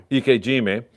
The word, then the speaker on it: ikejime: and sever the nerves, like, how do you pronounce that? Shinkime? Yeah. Ikejime.